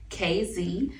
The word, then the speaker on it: KZ Cosmetics: So it's pronounced KZ.